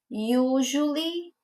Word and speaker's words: usually: Então, esse S aí, que a gente está visualizando, na escrita, ele vai estar com esse som de J.